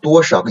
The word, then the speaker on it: 多少个: So 多少个 in this phrase there are two neutral syllables, okay, and the last one is just about the exercise about neutral syllables, okay.